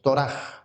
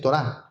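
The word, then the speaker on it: Torah: Digan Toraj. No es Torá, sino Toraj.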